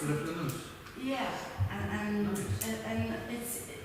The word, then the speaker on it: flâneuse: So that's how it is pronounced, Le Flâneuse.